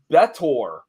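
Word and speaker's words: B'Etor: go on to be I believe it's pronounced betor on several different series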